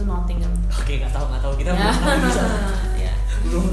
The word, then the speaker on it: Nottingham: Tulisannya Nottingham, tapi kita spellingnya itu, pronounce-nya itu Nottingham.